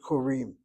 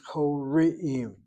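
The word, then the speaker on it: קוראים: You pronounce the word as koreim, not koreim, and certainly not korim. It's koreim. CV is the first syllable, long vowel open.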